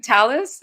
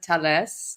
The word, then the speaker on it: Thales: So the company Talis, in French they pronounce it Thales.